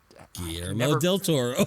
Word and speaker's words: Guillermo del Toro: Just think about quesadilla. How the L's.